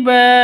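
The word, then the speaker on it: بَابٍ: Di akhir seperti ini namanya qalqalah kubra. Kalau di depan seperti ini atau di tengah itu namanya qalqalah qalqalah sughro. Yang ini qalqalah kubra atau qalqalah akbar. Pantulannya lebih keras lagi seperti itu. Lebih besar lagi. Min kulli bab seperti itu ya.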